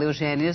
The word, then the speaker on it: Eugénia: O seu nome se escreve com acento agudo. Agudo. Todas as pessoas em Portugal, Eugénia, se escrevem com acento agudo. Essa história do acento circunflexo não existe no meu nome.